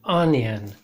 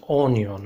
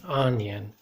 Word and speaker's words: onion: is an onion okay notice the pronunciation onion not on your own okay onion and then here we